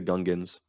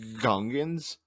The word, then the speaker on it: Gungans: So, I what do you think hear about the Gungans? some people, I've heard it pronounced Gungans, but then they themselves say Gungans. Gungans. So which one is it?